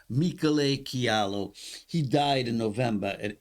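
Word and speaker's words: Michele Chiarlo: Unfortunately, Michele, the real pronunciation is Michele Chialo.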